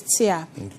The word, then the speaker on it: TEA: then we have here this is tia this is tear t-e-a you can pronounce like tea but when you go to